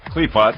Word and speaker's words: Qliphoth: Qliphoth, yeah.